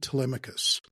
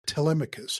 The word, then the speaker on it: Telemachus: This is the story of Saint Telemachus, or pronounced Telemachus, whose festival is celebrated on January 1st and has been remembered throughout the last 1600 years.